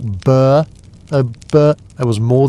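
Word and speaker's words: burh: What the heck is a burr? Pronounced like burr.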